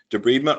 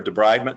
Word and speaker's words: debridement: We'll talk a little bit about the um deb breedment or debridement depending on how you want to pronounce it and the evaluation part is very important in the use of a debridement code.